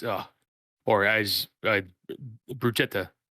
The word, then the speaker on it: bruschetta: me how to make bruschetta it's uh poor guys bruchetta I believe is the proper pronunciation but I'm not Italian